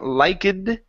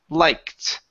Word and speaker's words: liked: Ed ending here so instead of saying liked okay the word is liked with a t sound at the end liked liked good so